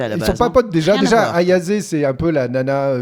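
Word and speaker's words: Ayase: euh en gros c'est deux lycéens euh Momo ayazé c'est ça comme ça se prononce ayazé ouais et Ken Takakura parce que c'est son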